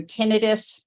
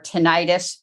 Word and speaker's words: tinnitus: So tinnitus or tinnitus, it's pronounced both ways, is a really common problem.